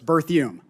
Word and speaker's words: Berthiaume: Berthiaume? Yes, sir. Did I pronounce that correctly? You're very close, sir. It's Berthiaume.